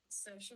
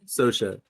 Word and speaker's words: Saoirse: How do you pronounce the name Swaris? Swarbriz? Saoirse Ronan. Sosha.